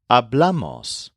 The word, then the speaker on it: hablamos: This is the one form that has a stress on the second syllable instead of the first syllable.